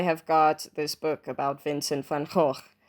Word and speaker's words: Vincent van Gogh: So I have got this book about Vincent van Gogh. Yes, that is how you pronounce it, sort of, by Carolyn Earle.